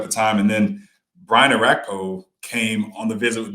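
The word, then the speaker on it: Orakpo: It's Arakpo.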